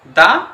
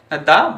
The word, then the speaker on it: the: কনসোনন্ট দিয়ে শুরু হয় তাহলে আমরা কিন্তু সেই উচ্চারণটা কিন্তু দা হিসেবে ধরবো। তাহলে আমরা যদি নির্দিষ্ট একটি বালককে বলি একটি বালক নির্দিষ্ট করে তাহলে দা বয় সে উচ্চারণ আমরা কি বলব দা বয় এটি হল দি আর দা এর উচ্চারণের